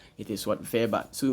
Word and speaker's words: Weber: pronounce it what w like we we call pronounce as what Weber it is what verber so M verber German sociology develop the principle